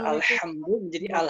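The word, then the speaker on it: الحمد لله: maka bagi kita mungkin yang kesusahan baca huruf H contohnya ha gitu beberapa diantara kita ada yang membacanya jadi ha terjadi ha itu tidak dibenarkan baca alhamdulillah alhamdulillah alhamdulillah harus tetep Alhamdulillah boleh jadi al-hamdu karena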